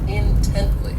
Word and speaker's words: intently: ridiculous next is intently this adverb has three syllables and the stress is on that second syllable intently so this word means